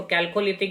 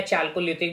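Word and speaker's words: Chalcolithic: ताम्र पहचानकार या इसको कैलकोलिथिक या चैलकोलिथिक भी प्रोनाउंस किया जाता है।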